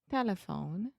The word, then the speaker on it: telephone: Telephone. Yeah, tell me where the schwa is. T. No. Telephone. So I'm saying te. Telephone. Yeah, so the schwa is the middle syllable.